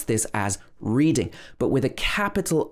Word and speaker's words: Reading: reading if you're reading a book we would pronounce this as reading but with a capital r when we're talking about the name of the place it's pronounced reading reading so a lot of people who come